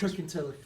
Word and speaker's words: Kirkintilloch: Kirkintilloch, for example, which is a town north of Glasgow. Auchtermuchty. It's getting the loch, the och.